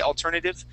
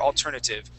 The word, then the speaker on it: alternative: uh alternative you could you could use that T at the end as a D sound or a or a t that one really doesn't matter all that much you could say alternative or alternative and uh and either way is just fine okay okay um number